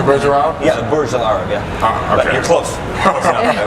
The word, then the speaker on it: Burj Al Arab: Yeah, the Burj Al Arab.